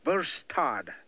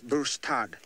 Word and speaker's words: bustard: trying to spell it spell bu s T a Rd burstad yes not the other one his birth dad so you know this